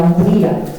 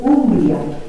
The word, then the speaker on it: Umbria: Como ven, nos vamos a mover en la zona de la Umbría. En italiano se dice Umbria, pero nosotros vamos a seguir dentro de nuestro estilo y de nuestro idioma.